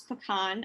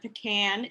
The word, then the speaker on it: pecan: to make sure you guys understand how to pronounce pecan i've seen commercials where they said pecan and that bothers me it's actually pecan that's